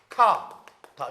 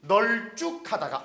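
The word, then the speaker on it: 넓죽하다: 이걸 어떻게 발음하냐면 리얼 비읍에서 비읍이 들어가요. 넙쭉하다. 요건 연음이라고 해서 나중에 배우지만 넙쭉하다가 되지 널쭉하다가 아닌 거죠.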